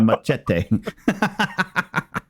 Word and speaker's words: machete: Get that pronunciation right. That's a CH in there. It's a machete.